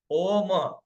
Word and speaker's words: ओम: ओम बोलने का मतलब है 50% ओ और 50% म। ओ, आधा ओ, आधा म, ओम।